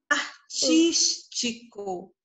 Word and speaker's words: artístico: Artístico. Artístico. Tá? Então, a minha sílaba tônica é o tis.